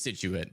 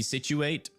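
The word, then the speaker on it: Scituate: You might think it's Situit, but if ever in my mind it will be Situate, and it will never be anything different. So, I apologize, but I will continue to pronounce that uh city name the wrong way forever.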